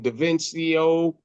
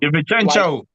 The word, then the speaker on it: DiVincenzo: Like getting rid of the how you say his name, DaVincio. Like DiVincenzo.